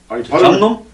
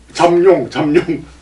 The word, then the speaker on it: 잠룡: 저는 요즘 TV를 보면서 뭐 이재명 씨니 뭐 문재인 씨니 여러 잠룡들이 잠놈? 잠룡. 나 잠놈이라 들었는데. 잠룡. 예, 그래서 발음을 다시. 잠룡. 잠놈이 아닙니다. 잠룡.